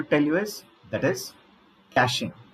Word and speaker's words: caching: Next thing what I want to tell you is that is caching. Caching. It is not catching.